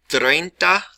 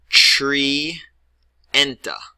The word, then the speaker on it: treinta: pronounce this correctly first if you would spell it like this remember what I said about the IE that would make the sound tree enta and that's 100% wrong